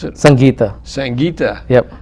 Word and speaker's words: Sangeeta: And how do I pronounce it? Sangeeta.